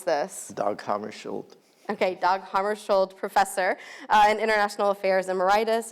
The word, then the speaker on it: Hammarskjöld: Harvey is, and I forgot to ask you how to pronounce this. Dag Hammarskjöld. Okay, Dag Hammarskjöld, professor in International Affairs Emeritus in the Department of Political Science at the University of South Carolina.